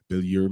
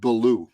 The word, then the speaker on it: Billou: happy to introduce billiard Mr billiard how are you doing today feel better brother I am blessed and grateful but my last name pronounced it blue it's simple blue oh I'm sorry I'm I'm